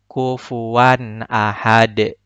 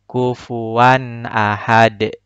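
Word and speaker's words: كفوا أحد: Maka bacanya harus dipantulkan. Kufuwan ahad. Kufuwan ahad. Huruf dalnya harus memantul.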